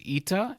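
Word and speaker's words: Ήτα: Zeal after that is ITA and is pronounced like e in meat then we have Theta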